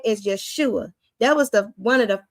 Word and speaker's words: Yeshua: It's H344, Yeshua. You know, that's how it's pronounced, even though there's no H right there. But Yeshua, his name is deliverance.